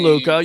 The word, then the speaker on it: DeLuca: I think he's pitching pretty well, And then even DeLuca, I can never pronounce his name. DeLuca, you got it right the first time.